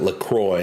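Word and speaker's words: LaCroix: diet is lacra I I used to call it lacro cuz I thought it was pronounced the French way but I looked up the company and they pronounce it lacroy after the the city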